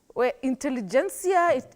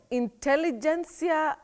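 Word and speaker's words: intelligentsia: t s i a intelligencia intelligencia Willis how do we go about that one in particular well Betty in that word the t is pronounced many people innocently think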